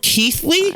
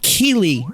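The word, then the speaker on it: Keighley: Also, it's pronounced Jeff Keithley. I've been corrected. I've been pronouncing it Jeff Keelley for like the last like eight years.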